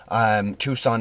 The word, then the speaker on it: Tucson: to Tucson, I believe it's pronounced, even though it's spelled Tucson. Tucson, Arizona.